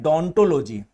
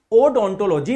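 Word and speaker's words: odontology: अध्ययन को बोलते हैं डोंटोलॉजी। ध्यान रखना, इसकी स्पेलिंग ओ से शुरू होती है, लेकिन जब भी इसका प्रोनाउंसिएशन किया जाता है, उच्चारण किया जाता है, तो डोंटोलॉजी ही बोलते हैं, ओडोंटोलॉजी नहीं बोलते।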